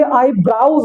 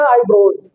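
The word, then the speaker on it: eyebrows: video पढ़ था कि आई ब्राउज होता है हम पढ़ते क्या आइब्रोज कितना गलत हो गया कुछ साउंड है हमारे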